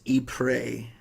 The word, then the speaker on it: Ypres: which I did look it up it's it's EEP ray is how it's pronounced so I think I was pretty close when I said it earlier I believe that's what I had said so II pray it's it's Dutch actually or the like actual